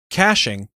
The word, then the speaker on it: caching: talk about wordpress caching caching pronounced caching is the process of